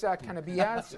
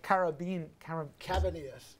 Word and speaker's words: Cabanillas: Chris Canabillas, if I said it right, I'm sorry, Cabanillas.